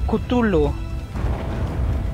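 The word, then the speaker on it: Cthulhu: a ver según que se pronuncia como kutulu Ah gracias por la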